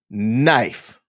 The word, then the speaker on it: knife: know American Sign Language you don't say the K before the N it's typically the K is silent as we take a